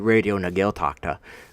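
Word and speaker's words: Raidió na Gaeltachta: Casa Vega shockula RTE radio na gaeltachta see I did it so perfectly just there you know I that's how you say it it basically means you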